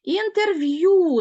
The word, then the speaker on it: інтерв'ю: інтерв'ю запишимо його теж транскрипція і де р в є й так в нас ю позначає два звуки інтерв'ю наголос але ж бачимо що звук е без наголосу Отже він матиме призвук ми його не чітко чуємо інтерв'ю ось такий буде звукозапис цього слова і рахуємо 1 2